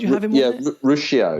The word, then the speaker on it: Ruscio: Rusko on there? Did you have? What's his name? Dr. Rusko? Did you have him on there? Ruscio. Ruscio, that's how you pronounce it.